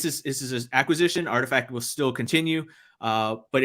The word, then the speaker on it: RTFKT: i was like what how do you how do you even pronounce that because it's literally rtf kt and i'm like i don't know what that spells somebody had said oh it spells artifact i'm like oh okay